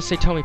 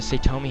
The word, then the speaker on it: Satomi: It sounds like Satomi to me, but I know that A's in the Japanese language are always pronounced as ah, so it could be Satomi. Which actually sounds much better, Satomi.